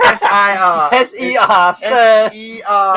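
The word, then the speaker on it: Ser: And it's S-E-R too. It's not S-I-R.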